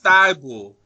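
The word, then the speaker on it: Thybulle: not my fault don't blame me but Matisse ty bull was that's how you say his name like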